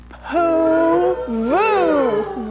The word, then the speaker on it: Puvu: this all right group now say it with me poo voo very good now we're going to spell it p u v u the povo indians